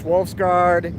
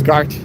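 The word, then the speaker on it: Wolfsgart: 3 more weeks, Wolfsgard. Yeah. Gart. It's Gart. Gotta pronounce that correctly.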